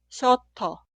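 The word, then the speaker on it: 셔터: Y la palabra se pronuncia shoto, shoto, shoto.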